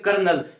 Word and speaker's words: colonel: हमें बोल सकते हैं कर्नल, यानी बोलने में कर्नल की स्पेलिंग में आपको ऐसा लगता है कि इसमें आर आएगा, बट जो ये जो